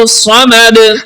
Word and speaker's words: الصمد: کو پر پڑھیں گے۔ الصمد، صاد کو پر پڑھیں گے اور دال پہ قلقلہ بھی کریں گے۔ تو دوبارہ میرے ساتھ